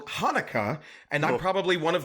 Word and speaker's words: Haneke: It's because the correct pronunciation of the director's name in German is actually Michael Haneke.